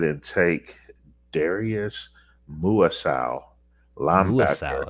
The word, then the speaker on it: Muasau: Muasau is how you say it.